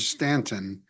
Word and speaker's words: Staunton: My one thought is uh the word Stanton in our in our standard logo. It has that special treatment for the U. You know, the U is silent.